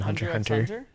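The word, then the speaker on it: Hunter × Hunter: here super x yeah you don't normally pronounce the x and when it's like that in like japanese shows like hunter hunter you don't say the x in hunter hunter no hunter but they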